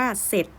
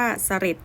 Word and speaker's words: เสร็จ: เสียง ออก เสียง ว่า เสร็จ แล้ว ไม่ ออก เสียง ว่า เสลด อย่าง นี้ นะ คะ คือ เวลา เรา ออก เสียง ว่า ตัด รอ เรือ ทิ้ง ไป เลย นะ คะ ต่อ ไป ทร แอ